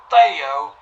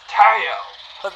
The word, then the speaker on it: Theo: It's not Theo, it's Teo. I'm so sorry for the inconvenience. It's just the names are spelled the same way, and...